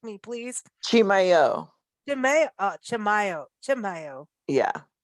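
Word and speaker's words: Chimayó: Chimayo. Chamayo, Chamayo, Chamayo, Yeah. Chamayo.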